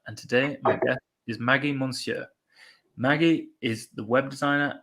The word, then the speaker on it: Maggy Monceaux: Maggy Monceaux.